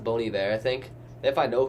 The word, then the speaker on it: Bon Iver: and think that's what it is but it's pronounced bony there I think if I know correct I know